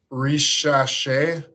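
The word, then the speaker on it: Risacher: Ricochet. There you go. Ricochet, I believe is how you say it.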